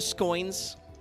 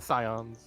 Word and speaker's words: Scions: uh lucky i think you mean the scoins the scions no i don't think lucky's actually watched that pint video but i he mispronounces science like three times i think scoins is my favorite but he also says the scones the scones and the shallots of the seventh dawn what the [ __